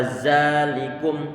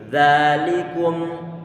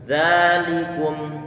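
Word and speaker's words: ذلكم: gigi seri bagian atas dan dikeluarkan sedikit untung lidahnya biar nanti tidak terdengar suara dzalikum tapi dzalikum kita tempel untuk lidah dulu ini Tentunya adalah termasuk diantara huruf yang tipis karena dia pengucapannya pangkal lidah Turun ke bawah sehingga tipis nanti dzalikum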